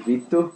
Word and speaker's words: Vitor: I'm Vtor. That's how you say my name in Portuguese.